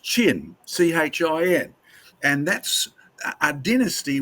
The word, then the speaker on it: Qin: The QIN, which is an antiquated way of spelling it, is actually pronounced CHIN in modern day English.